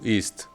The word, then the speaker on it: isst: Sí se dice is, solo que se escribe con dos S, ¿vale?